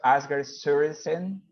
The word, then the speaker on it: Asger Sørensen: I want to thank Professor Asger Sørensen. Did I say it right? Yes, that's actually very close to how we would pronounce it.